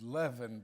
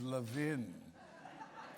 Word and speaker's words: Levin: I love that pronunciation Levin most of us think of it as leaven but he's Levin yeah now Levin our